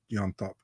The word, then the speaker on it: Llontop: By the way, I hate to be a dick, but the pronunciation is James Llontop. James. I heard it's Llontop, though, right?